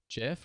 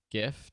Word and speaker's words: GIF: You can choose the format between PNG, JPEG, GIF, or GIF, depending on how you pronounce it, SVG.